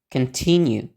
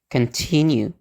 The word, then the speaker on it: continue: ulang lagi biar lebih mantap oke ee melanjutkan continue continue mempertimbangkan Consider Consider nah yang terakhir mengontekstualisasikan contexization